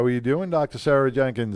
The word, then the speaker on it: Jahnke: sarah janke how are you doing dr sarah jenkins how are you good good how are you